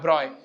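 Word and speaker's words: Broglie: है लिखा हुआ है प्रोनाउंसिएशन लिखा हुआ है एनसीआरटी में ही लिखा हुआ है ब्रॉय लुई दे ब्रॉय है ना एनसीआरटी में लिखा है प्रोनाउंस ब्रॉय नहीं भाई साहब ने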